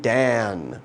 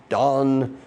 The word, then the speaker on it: Dan: me a son therefore she named him dan or dawn depending on the pronunciation and it means judge